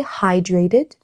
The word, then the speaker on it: hydrated: My doctor told me to stay hydrated C'est vrai que ça se prononce high, Ouais. hydrated, tu vois.